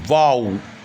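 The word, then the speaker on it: bow: ডব্লিউ কি হবে কাও এখানে একটা কথা বলে রাখি অধিকাংশ ক্ষেত্রে ও ডব্লিউ আও উচ্চারণ হলেও কিছু কিছু ক্ষেত্রে ও ডব্লিউ এর উচ্চারণ হয় ও যেমন বি ও ডব্লিউ বো এই উচ্চারণটাও কিন্তু হয় বি ও ডব্লিউ এর দুটো উচ্চারণ এক হচ্ছে ওয়াও আরেকটা হচ্ছে বো কিন্তু আমরা বো উচ্চারণটা শিখবো না ও ডব্লিউ তে যে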